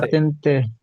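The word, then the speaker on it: patente: আছে কি হবে না পাতেনতে ঠিক আছে পাতেন্তে এ এই উচ্চারণটা ঠিক করবেন সবাই পাতেনতে বলা হয় এটাকে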